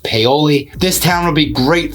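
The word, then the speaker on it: Paoli: talk about is peoli and yes it is pronounced peoli this town will be great for you if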